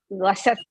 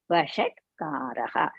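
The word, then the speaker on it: वषट्कारः: Vishwam Vishnur Vashatkaraha, not Vishnu Vasat, like that. Sir should not be there. Vishwam Vishnur Vashatkaraha.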